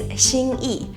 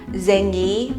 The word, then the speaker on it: Xinyi: My Chinese name is Xinyi, spelled like Xinyi. But in America, a lot of people don't know how to pronounce Xin. I've heard people call me Zengi or Gen Z.